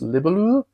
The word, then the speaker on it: Libellud: Today we're going to be looking at and unboxing Harmonies from, I think it's pronounced Libelul. At least that's how my Danish brain wants to pronounce it, but a pretty well-known publisher.